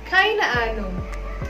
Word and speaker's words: keine Ahnung: Huruf H itu tidak dibaca ya. Jadi bukan keine Ahnung, tapi melebur H-nya.